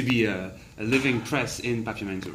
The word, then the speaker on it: Papiamentu: In Aruba they spell it Papiamento with an O. But did they say Papiamentu? They say Papiamentu.